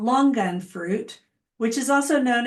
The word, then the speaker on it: longan: And that's how she pronounces it, longan, an emphasis on the G.